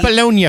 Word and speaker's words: Bologna: Some Bologna fur. He said it fancy, like a duke. What, really? Bologna fur? Wow. I like that the Italiano. He pronounced the G.